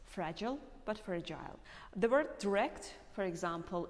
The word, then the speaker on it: fragile: And there is a difference in the sound I, this letter I, because Americans prefer to make it E mostly in most words, but British people prefer to pronounce it like I.